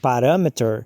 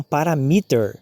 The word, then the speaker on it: parameter: Então, por exemplo, a palavra parâmetro, ao invés da gente falar parameter, muitas pessoas falam parameter, entendeu?